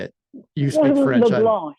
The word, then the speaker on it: LeBlanc: LeBlanc. They LeBlanc. don't pronounce the C.